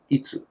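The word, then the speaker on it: いつ: next word is win eats eats just like eating eats eats it's a itsu is win so if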